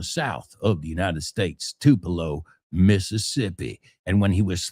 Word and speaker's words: Tupelo: Tupelo? Bueno, así se escribe, but it's Tupelo, Mississippi. Now, a lot of people